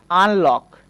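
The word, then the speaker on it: unlock: ঠিক তেমনি করে আমরা বলতে পারি আনলক। খেয়াল করতে হবে আনলক বানানটা, এই বানানের মধ্যে আমরা ইউ এর পরে কিন্তু পরপর দুইটা কনসোনেন্ট দেখতে পাচ্ছি, এন এবং এল। এই যে এই জন্য আমরা ইউকে আ উচ্চারণ করব।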